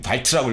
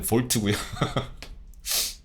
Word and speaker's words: 볼트: 지금 발트라고 읽었는데 볼트고요. 그러니까 응, 아빠 믿어.